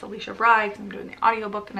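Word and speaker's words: Alisha Rai: it this is by Alicia Rye I mispronounced her name before it's Alicia Brides I'm doing the audiobook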